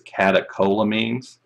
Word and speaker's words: catecholamines: into biology 202 is catecholamines so the ch there is pronounced like a k that's not um uncommon